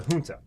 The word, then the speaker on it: junta: junta which is uh spelled with a soft j you don't need to know that or anything but it's a hunter and what that means